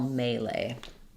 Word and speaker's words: melee: Letter E says A, and um then the second two E's also say A. Um, so comes to English, I think, from French again. um and uh has changed the pronunciation slightly in English. So we just say it with the same vowel in both the first and last syllable um but stressing on the may.